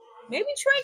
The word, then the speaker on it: Trae: I was like, well, maybe Trey could be, a little football.